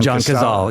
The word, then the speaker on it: Cazale: But it's just the intensity of it, and just like that moment where Casale, is that how you say his name? John Cazale. Yeah, Cazale.